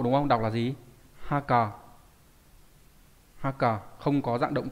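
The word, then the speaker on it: 墓: Đọc là gì? Haka.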